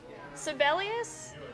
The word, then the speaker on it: Sibelius: Sibelius, I'm probably saying that wrong.